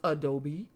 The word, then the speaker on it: adobe: Houses built from 1350 to 1540 were made of stone, cemented with adobe, pronounced adobe, and sun-dried mud.